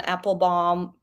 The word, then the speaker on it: Applebaum: 2 great books that I recommend by Anne Applebaum, is how you pronounce it, called The Red Famine, that talks about Stalin trying to exterminate Ukrainians in the 30s.